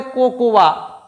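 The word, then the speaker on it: cocoa: এটাকে তো সবাই বলে কোকোয়া। কোকোয়া না কোকোয়া বলে কিছু হয় না। কোকো কোকো। ওকে? এটা কোকোয়া নয়। এটা হচ্ছে কোকো।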